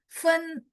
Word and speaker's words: 吩: Oh, jadi fen bacanya sama, cuman ditambahin kou.